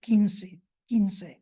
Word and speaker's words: quince: So we have quomodo gave como, and quaero or quaero in Latin gave quiero, and it was spelled with a Q and an E. And quidecim gave quince.